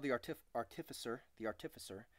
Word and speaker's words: artificer: called the artificer the artificer I used to say artifice err until recently when I found out how you're supposed to pronounce it but he said they